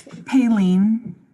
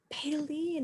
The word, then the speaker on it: Palen: how do you pronounce how do you pronounce your name it's palen palen that is so beautiful